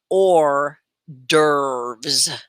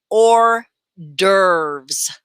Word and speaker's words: hors d'oeuvres: make sure it's shared everywhere okay so it's pronounced or dervs can you all say that now say it